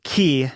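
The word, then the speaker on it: Cay: K or key well the spelling c y is traditionally pronounced key in the Bahamas so that's what I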